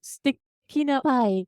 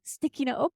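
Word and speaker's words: 素敵なおっぱい: really love the gloser the pronunciation there is stick up sticky up by little Japanese accent yeah so so hentai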